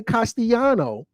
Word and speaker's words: Castellano: The double L is pronounced Y. So when I say Castellano, I don't want you to think there's a Y. I want you to think double L. Castilian is Castellano.